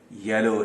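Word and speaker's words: yellow: उसी हिसाब से ये एलो नहीं है, येलो है।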